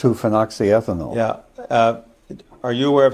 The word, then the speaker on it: 2-phenoxyethanol: How do you pronounce it? 2-phenoxyethanol.